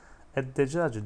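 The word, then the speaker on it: الدجاج: Eddecacı, decaç tavuk demekti. Edde. Lam okunmadı. Lamdan sonraki harf şeddeli okundu.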